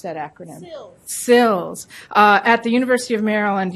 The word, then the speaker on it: CILSS: How do you pronounce that acronym? SILS.